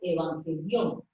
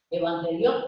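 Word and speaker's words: εὐαγγέλιον: la palabra en griego evangelión. Evangelión, pronunciándolo así con las debidas reservas de mi pronunciación del griego. Lo estoy pronunciando en español, evangelión.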